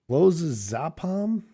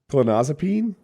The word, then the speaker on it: Clonazepam: And it turned out that time he was addicted to clozapam. Proper pronunciation. Thank you. Yeah. Clonazepam.